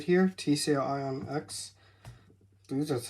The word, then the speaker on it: Ionx: TCL Ionx.